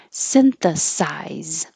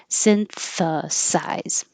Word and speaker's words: synthesize: and the verb synthesize this can be very tricky because there's s t h and S so behind the teeth for the S synth and out for the th and then back for the S synthesize try it slow if